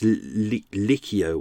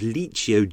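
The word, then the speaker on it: Licio: It looks like it's Licchio or something like that, but I had to check it and it was like, oh, it's Liccio jelly. Not Gelly, and it's, yeah.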